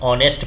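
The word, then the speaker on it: honest: hate और यहां पर कुछ वर्ड में साइलेंट भी होता है जैसे यहां पर हम ऑनेस्ट पढ़ते हैं और एच यहां क्या हो जाता है साइलेंट हो जाता है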